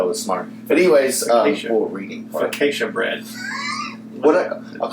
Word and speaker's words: focaccia: Focaccia bread. I'll call it fachada.